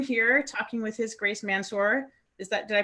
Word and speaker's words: Mansur: So I am here talking with His Grace Mansur. Did I pronounce that right?